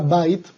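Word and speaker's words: בית: veíamos, estudiábamos de que la palabra Bait se volvía o se convertía en Beit, cambiaba su sonido en sus vocales, a pesar de que su escritura seguía siendo la misma. Su pronunciación, cuando está en una Smihut, cambia, ya no es Bait, sino Beit. Ojo, Beit.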